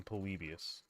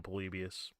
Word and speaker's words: Polybius: video on it on polybius it's like polybios is if you want to like spell it out p-o-l-y-b-i-u-s I believe foreign excuse me sorry